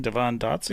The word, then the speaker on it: Devon Dotson: Did I whiff his name, Devon Dotson?